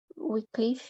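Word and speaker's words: Wycliffe: o João wiclif em assim que pronuncia oclif ele foi conhecido né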